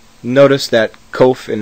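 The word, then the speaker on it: קוף: of the other letters kof is a special emphatic non-aspirate k sound produced in the back of the throat we will pronounce kof like cough with dagesh or like the k in kite fresh is a slightly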